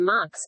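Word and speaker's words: Muxe: Another example may be the Mux, pronounced Mu, found in the state of Oaxaca, in southern Mexico.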